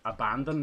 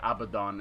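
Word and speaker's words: Abaddon: and Damned abadon yeah normally you'd call that abandon maybe people still would call it that but I think it's pronounced abdon it's based on a God uh hence why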